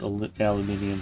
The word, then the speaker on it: aluminium: For an Oregonian, he also knows how to pronounce aluminium properly.